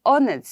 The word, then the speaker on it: honest: See, in honest, I don't say honest, right? I say honest. So, it is, H is a silent word in honest.